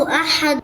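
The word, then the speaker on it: أحد: কুল হুয়াল্লাহু আহাদ। আহাদ শেষের দাল কলকলা হবে।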